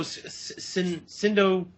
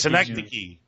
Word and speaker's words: Synecdoche: My favorite performance of his is Happiness, and I can't pronounce it, Joe. What is it, Joe? Sindo... Oh, God, no, Billy? Sindo Chin, no, New York, whatever the fuck that is. Synecdoche.